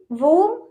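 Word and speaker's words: whom: next हमारा weather, weather, when और वो, वेयर, ओके, मतलब वेयर मतलब कहा, वेयर, वूम और विच, यहाँ पे भी एच है, ठीक है, तो ये एच साइलेंट रहेगा, डब्ल्यू के बाद एच है तो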